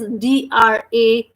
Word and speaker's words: drapeau: So as I have told you, the letter R which is following the letter D, so that's why it is pronouncing as drapeau, DRA. Sound of D is the, sound of R is ro, sound of letter A is A. So that is becoming dra.